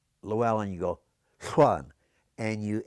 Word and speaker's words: Llewellyn: All right, that double L in Welsh, I know how to say it, but I can't always do it. You form your mouth as if you're going to say L, like la la la la la, and then when you say Llewellyn, you